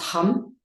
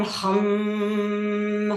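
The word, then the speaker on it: ham: So it's spelled H-A-M, but it's pronounced hum.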